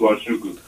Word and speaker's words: Nwachukwu: It's pronounced Nwachukwu.